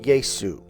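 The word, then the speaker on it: Ἰησοῦ: Because in Greek, there is no sh sound, sh, right? In English, we say sh. There is no sh sound in Greek. So when they tried to call him Yehoshua or Yeshua, they instead called him Yesu, right?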